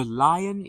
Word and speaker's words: lion: So lion is different because it has two sounds.